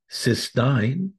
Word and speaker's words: cystine: In this discussion, we'll look at the most popular ways: oral glutathione, cysteine, cystine. Please note the difference in both spelling and pronunciation.